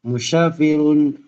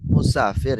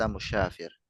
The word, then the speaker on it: مسافر: لماذا أنت مسافر إلى سوريا؟ سوريا. نعم. تعود تعود نط آه تعود أن تنطق مسافر يا أخي بالسين، ليس مشافر. مسافر. مسافر. نعم صحيح. استطعت. مسافر ليس مشافر.